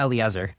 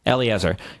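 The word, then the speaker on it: Eliezer: Elliot Eiser was how do you pronounce his name? Yeah. Eleazar. Eleazar.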